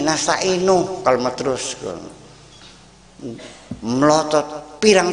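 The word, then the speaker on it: نستعين: Dia bacanya iyyaka na'budu wa iyyaka nasta'in. Nih, saya kasih tegur, jangan nasta'ini, nasta'inu kalau mau terus.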